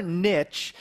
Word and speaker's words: niche: And you know, niche is actually how you say it, but here in America, we say niche. If you've ever heard marketers say the riches are in the niches, you know, it kind of rhymes.